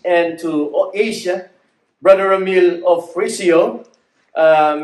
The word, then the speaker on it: Ofrecio: to asia brother emil of frisio uh many of my friends are having a hard time saying my last name but it is pronounced as offrisio and i came to